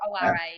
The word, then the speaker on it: Ora: because it's a Maori it's a Maori word I'm a kiwi in case yeah you couldn't tell um so it's Ora sleep coaching um on